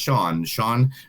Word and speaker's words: Sian: You can find them online at Sean Sushi, which is SIAN, but it is pronounced Sean Restaurant.